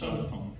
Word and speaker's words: Sabaton: No, it's Sabaton pronounced Sabaton.